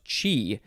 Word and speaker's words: chi: form of chi o so this actually is pronounced chi uh it is spelled c-h-i or c-h apostrophe